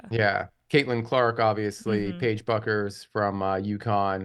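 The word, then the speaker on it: Bueckers: Paige buckers from Yukon am I pronouncing her last name correctly Paige buers buers buckers I think people CU call her people call her Paige buckets CU she's a dynamite but buers I think is correct yeah but yeah maybe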